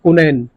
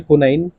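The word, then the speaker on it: quinine: में जिसका नाम है कुनैन अब देखिए स्पेलिंग प मत जाइएगा या तो सी से आती है क्य से होती है कोनाइन यह दवाई आती है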